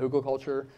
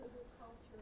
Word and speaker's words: hugelkultur: things, like I've got a whole article about hugelkultur where I really, really geek out about the whole thing, and it's a long article.